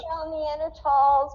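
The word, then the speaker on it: Neandertals: groups okay um and you have neanderthals without the h and you pronounce it without the h and that is because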